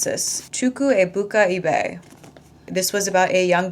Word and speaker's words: Chukwuebuka Ibeh: After that, I went on to read and finish blessings by someone told me how to pronounce this. Chuku Ibuka ebe.